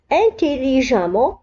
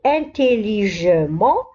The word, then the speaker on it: intelligemment: لاحظوا هنا أبناء الطلبة أنه intelligemment تكتب e, ent ولكن ننطقها a. لا نقول intelligemment ولكن نقرأ intelligemment. différemment.